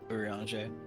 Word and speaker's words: Urianger: Urianger. Urianger, it is the J, not the Je.